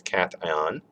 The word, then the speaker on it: cation: all right so um cation okay obviously not pronounced cache and it's cation and this is where